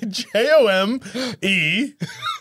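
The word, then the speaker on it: Jome: Yeah, J-O-M-E space. John Brick. No, it's pronounced Jom.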